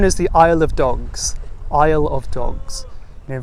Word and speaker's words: Isle of Dogs: Isle of Dogs. You know, very much like the Isle in British Isles, meaning island. You know, not to be confused with the aisle in a supermarket, which is kind of